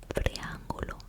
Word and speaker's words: triángulo: We have a triangle, which is a triángulo, triángulo. Notice how I put the emphasis on the A.